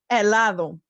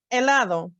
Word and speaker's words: helado: This letter name is H. It has no sound. It's a silent letter in Spanish, unless it's after the C. The word to remember is helado. That means ice cream in English. Helado.